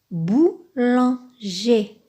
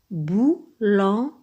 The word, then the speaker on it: boulanger: Comme par exemple, boulanger, boulanger. Vous voyez, boulanger se termine par ER et ça se prononce E.